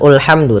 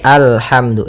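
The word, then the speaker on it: الحمد: Maka apabila ada alif lam di awal bacaan, maka a-nya dibaca dengan fathah. Alhamdu. Nah, di sini bukan ulhamdu tapi alhamdu.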